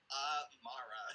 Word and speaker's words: Imarra: our earlier notes it's a h it's like uh Mara yeah it sounds like it should be like